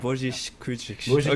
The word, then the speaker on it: Božić-Kudrić: You're close, but it's hard to pronounce Croatian, I assure you. It's Božić. Shostakovich? Yes. Yeah, so it's similar, Božić. but you need to add the zh in the Božić. middle.